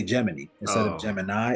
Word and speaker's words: Gemini: like that oh they said geminy they say geminy instead of Gemini it's spelled like Gemini but they say geminy and